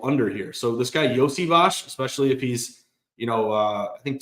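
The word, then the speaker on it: Iosivas: Like, I had no idea how to pronounce this guy's name, and then I was actually watching the Patriots game. Yosivash.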